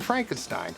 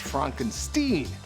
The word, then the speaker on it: Frankenstein: Jee Wilder playing Dr Frankenstein only he insists it's pronounced Frankenstein the movies humor is